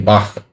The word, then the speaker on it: Bach: My pronunciation of Bach is bad. It should be Bach. Sorry, I'm American. and I'm stupid, and we don't have that sound in English.